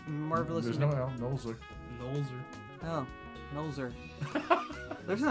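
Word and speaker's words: Nolzur: now we're going to nuzzler how do you pronounce his name noser nosler's marvelously oh noser there's an L there is there an L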